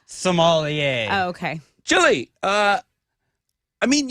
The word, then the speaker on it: sommelier: private salmonier? Oh, the people that know a lot about wine. Oh, okay. You I know, believe it's Salmonier. pronounced sommelier.